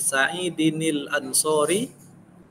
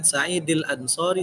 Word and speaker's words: Sa'idinil Ansori: Baris seperti Sa'idinil Ansori, hanya kan Sa'idil Ansori salah, hilang tajwidnya, huruf nunnya di situ hilang.